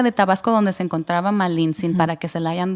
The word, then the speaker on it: Malintzin: Malincheli, ¿no lo estoy pronunciando bien? Malintzin.